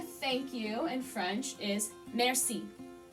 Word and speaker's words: merci: So the word for thank you in French is merci. It's very nasally. French is a very nasally language. So you're not really pronouncing the R per se. It's very touch and go. Merci.